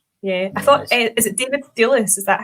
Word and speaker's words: David Thewlis: I thought, is it David Thewlis?